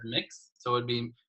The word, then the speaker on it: Mx: And it's pronounced a lot like the word mix. So it would be Mix Joey Lopez, or Mix Lopez, right?